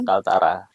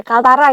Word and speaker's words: KLTRA: atau kalau disingkat klt ya Pak ya Kaltara Oke Kaltara gitu ya bacanya tapi bukan Kalimantan Utara ya itulah dia ya tapi